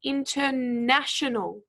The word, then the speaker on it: international: syllable here speaking however for the word international we actually stressed the third syllable so it's international so hopefully you all